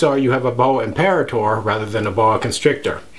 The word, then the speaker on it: imperator: Well, I've heard it as imperator, which is how I pronounce it, and I've heard people say imperator or various other variations. And this is really a tomato, tomato, potato, potato kind of thing.